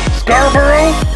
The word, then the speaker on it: Scarborough: the town is remembered it's it's brackets it's pronounced star burrows but it's spelled Scarborough I'm big but Americans